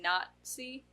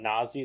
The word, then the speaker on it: Nazi: no T in the spelling, though. You've been calling it Nazi this whole time? No, I always say Nazi, but I always feel like It's I'm Nazi. saying it wrong because there's no T. It's Nazi. Oh, cool. There's a lot of German words that say things that, the letter isn't there, but we pretend.